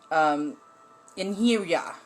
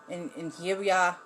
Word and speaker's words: Einherjar: The male version, the warriors are, it's spelled Einherjar. It's Einherjar. Einherjar. It's like that. I was working on trying to get the pronunciation right.